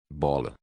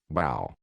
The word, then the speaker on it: Baal: Bola. Não, não, bola não, Baal. A pronúncia é parecida, mas...